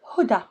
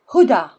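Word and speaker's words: هدى: Female names: Huda, Muna, Leila, Selwa. See, you don't pronounce ya, you pronounce it like you pronounce Alif. Huda, Muna, Leila, Selwa. It's like a sound at the end.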